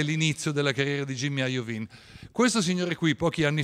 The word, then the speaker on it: Iovine: vedete sulla sinistra e lui si chiama jimmy ajovin iovine però gli americani pronunciano ajovin chi ha il jimny